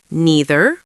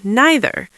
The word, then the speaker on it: neither: It's the same for neither. Neither or neither. Pick the one you like and stick with it.